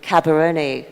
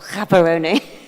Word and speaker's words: Gaborone: From an operations side, you're at the helm of one of the premier mice places in Gaborone. Hold on, I've mispronounced that as well. Gaborone.